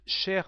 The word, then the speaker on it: chère: So cher is the masculine form with the same pronunciation as cher but with a grave accent and a final e. Dear Peter is cher Peter. Dear Mary is chère Marie, and dear friends, chers amis.